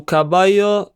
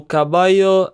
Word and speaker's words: caballo: The full sentence is Su caballo es joven. Pay attention to how the double L is pronounced. Su caballo es joven.